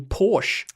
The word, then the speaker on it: Portia: Ellen hmm and away you can pronounce the name Porsche yes that's how Americans pronounce Matt we've got to